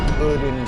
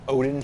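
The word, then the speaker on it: Oedon: As far as I know, that word is supposed to be pronounced Odin Chapel. A lot of people pronounce it Odin Chapel, like the god Odin. But I believe the word is supposed to be similar to the word for the name Oedipus. So I believe that or Oedipus as it's technically pronounced.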